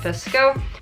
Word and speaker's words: VSCO: edit my photos as visco VSC vsco everybody's pronounces it fisk oh alright as you can